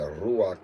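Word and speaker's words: רוח: In Hebrew, you got the ruach. The ruach is how you pronounce spirit in Hebrew.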